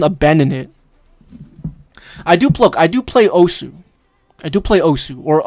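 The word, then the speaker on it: osu!: I do play Osu. I do play Osu, or Os, if that's what it's called. Some people say Osu, some people say Us. The actual pronunciation is Us. It's Japanese, right?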